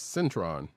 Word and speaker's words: Centron: is not a type on mind actually it's Centron Centron thank you yeah see look I totally butchered like the the second letter and the